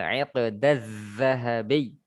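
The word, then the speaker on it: عِقْدَ الذَّهَبِيِّ: Uridu hadzal iqdaz zahabi. Seperti itu ya. Zalnya ditasdid, ya-nya juga ditasdid, sehingga ketika kita mengucapkannya betul-betul kita tekan dan terdengar jelas.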